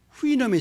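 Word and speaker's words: Houyhnhnm: 영어에 이렇게 자음이 6개, 7개 겹치는 경우가 없거든요. 모음 하나도 없이. 그래서 발음을 어떻게 할지 굉장히 아주 난감합니다. 그런데 대개 영미 사람들은 그걸 후이놈이라고 발음을 합니다. 후이놈.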